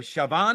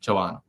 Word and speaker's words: Chavan: Darshan, your surname, is it Chavan or Shaban? How do I pronounce that? Uh it's the first one, Chavan.